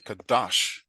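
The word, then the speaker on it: קדש: okay, Kadash, Kadash, we make that second radical louder.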